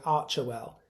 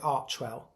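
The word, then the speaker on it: Archewell: and I've been pronouncing Archer well. Well, Megan said Archwell, two syllables, so I'll follow her lead in future.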